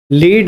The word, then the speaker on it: lead: लीड verb है, जानते हो किसी को लीड करना। लेड एक मेटल होता है, ये नाउन हो गया। जबकि दोनों के स्पेलिंग जो है सेम है, मीनिंग अलग अलग है, प्रोनाउंसिएशन भी अलग अलग है।